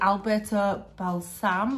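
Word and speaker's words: Alberto Balsam: good because so the new and it's the alberta balsam that's how you say it but the scent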